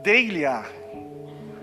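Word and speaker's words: δειλία: Essa palavra temor, timidez, covardia, é uma palavra grega, que se pronuncia como deilia, e essa palavra ela também significa intimidação.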